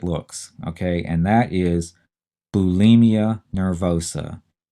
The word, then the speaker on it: bulimia: is because it's pronounced bulimia and it sure makes it sound like there's an e in there it sounds like it